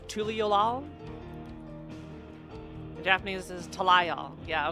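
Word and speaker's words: Tuliyollal: So in Japanese it's pronounced, or in English it's Tuliolal.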